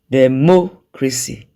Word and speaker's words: democracy: Democracy. Democracy. You can see that the stressed syllable is mo.